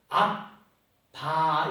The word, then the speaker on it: 아바: 의미도 있지만 엄격하게 말하면 저거는 아람어인데 그 AMB에 의해서 ABB에 의해서 아바 이렇게야. 이게 그냥 발음은 아바라고 하는 발음인데 예수님도 그 십자가 앞에 두시고 아바 아버지여라고 부르신 그 아빠예요.